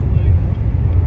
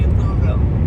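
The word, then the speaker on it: Louisville: our last little sent to Louis or I got corrected in the comments it's supposed to be louville louville louville they wrote louville so yep I got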